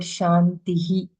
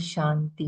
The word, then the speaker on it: Shanti: started with the sh the word Shanti how we are all used to pronounce it wrong there is no word called Shanti it is Shanti he and then he